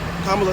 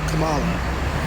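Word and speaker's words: Kamala: ] wrestler, but you say it the opposite of how he's pronounced, which is Kamla Harris, not Camala.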